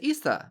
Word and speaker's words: Yza: It's Yza.